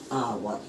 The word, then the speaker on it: hour: जाइए, छोटा सा वर्ड दे रहा हूँ, HOUR, आवर।